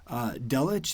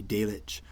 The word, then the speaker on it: Delitzsch: it's going to be delic however i'm going to go with dalits because that's how it's more commonly pronounced in english and that's just what